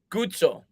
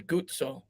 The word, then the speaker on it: Guzzo: same last name here gutso that's right that's how it's pronounced in italy guzzo that's right because you don't say pisa it's pizza so double z in italian is yeah i only know